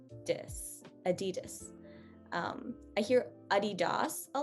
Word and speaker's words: adidas: a hard one uh this next one is very um choicely pronounced uh the adidas so i i hear a lot of things there are a lot of underlying um pronunciation things that we need to take into account when we look at this word first of all the das as we talked about in our sounds of a video this d-a-s is very